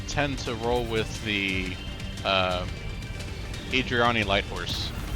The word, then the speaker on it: Eridani: When it comes to mercenary outfits, I tend to roll with the Adriani Light Horse. Or Eridani. I think it's pronounced Eridani.